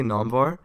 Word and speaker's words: Namvar: would say my name is i would say namvar but obviously like the way you would pronounce it like back in iran persian heritage